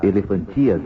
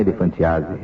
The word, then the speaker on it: elefantíase: O problema da elefantíase, né? Não é elefantiase. Que ele falou de elefantiase, a gente também, mas na verdade a pronúncia certa, agora fiquei sabendo, é elefantíase.